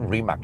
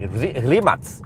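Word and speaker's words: Rimac: It's not remax remats. Yeah, remats.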